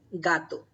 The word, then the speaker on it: gato: in Spanish we say gato gato so this G is sound will be gah gah so how will you